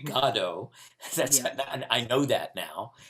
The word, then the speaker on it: Godot: saw this play that i'm sure we pronounced waiting for godot but it is actually gado that's i know that